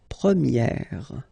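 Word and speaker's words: première: okay prier and then for the feminine form you will get Premier okay so it's open this a sound Premier prier prier and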